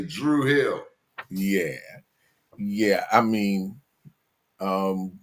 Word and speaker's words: Druid Hill: The Druid Hill YMCA or as us locals say Drew Hill.